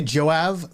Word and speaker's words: Joab: They pronounce it they say Joav like they pronounce that B as a V and sometimes they have the J as a Y.